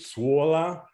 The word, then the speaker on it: sola: Do you see how she's pronouncing those O's? Solīt, sola. That's very distinctive for Latvian.